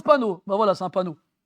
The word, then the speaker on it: panneau: Quand on prononce le O. Pourquoi on ne le prononce pas? Pourquoi on ne le prononce pas quand bon, bref, c'est les mystères de la langue française. Hein? On le prononce panneau.